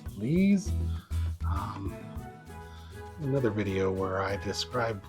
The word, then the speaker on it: lees: Some people say lease, some people say lees. I believe the correct pronunciation is lees.